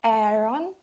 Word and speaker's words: Aaron: So it's pronounced as though the last two letters were en. And if it's en at the end, then it would be un instead of on. So it would be pronounced Aaron. Aaron. Aaron. Aaron. Aaron. Instead of on, try saying un.